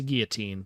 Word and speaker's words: Guillotine: Uh, I didn't really intend for her name to be pronounced the same way as guillotine, the instrument for cutting heads off. Uh, but I just feel like the way that word is spelled seems like it could be the same pronunciation.